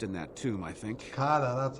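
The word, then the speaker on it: Tuk'ata: Takata, that's how you pronounce it.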